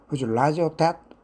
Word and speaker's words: debt: that 발음할 때 B가 생략되는 사람이나 기관에 갚아야 할 금전적 의무 빚이나 부채를 뜻합니다.